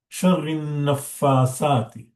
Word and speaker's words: شر النفاثات: And the third tajweedi points here is, you can see that there is 3 shadda in line. Sharrin Nafasati. Sharrin Nafasati. So Ra, Noon, and Fa, all of them have shadda. Okay, so it should be pronounced very clear.